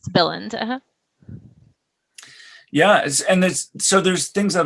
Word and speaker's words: Billund: So I see people asking that Billund, is that how you pronounce it? Yes, Billund.